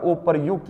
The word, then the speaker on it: उपर्युक्त: ठीक है ना बच्चों क्योंकि ये जो रेफ वाला र होता है जिस वर्ण के ऊपर होता है उच्चारण उससे पहला होता है तो य से पहले उच्चारण हुआ तभी ये उपर्युक्त बना क्लियर हुई बात तो